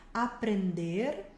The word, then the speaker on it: aprender: Olha só, temos aqui comer, que a gente já viu, beber, aprender, termina bem o verbo no final, levantando a língua para marcar o R, aprender, ler, tem que pronunciar